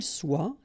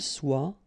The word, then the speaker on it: soit: que vous soyez, qu'il soit, qu'elle soit. Okay, so as usual, good news is that soit, and then soit here. You write them differently, but then you pronounce them the same way.